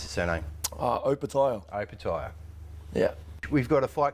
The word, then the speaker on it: Opetaia: punters and everybody at home how do we pronounce the surname uh open tile open tyre yeah we've got a fight coming up in